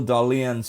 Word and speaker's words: Dahlen: Before 1925, the shortstop homer record was Bad Bill Dahlen's 15 homers way back in 1894. And yes, that is how you pronounce his last name, Dahlen.